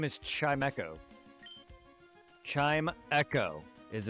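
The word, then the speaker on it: Chimecho: I pronounce things phonetically, but no, look at the root word for his name. It's Chime and Echo.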